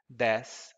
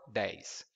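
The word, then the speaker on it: dez: some notes about pronunciation depending on the place the person comes from he or she's going to say to pronounce the number trace as trace and the number there at 10:10 as deaths or days in my region we pronounce it as trays and days and some people might object to that but both are accepted and now I propose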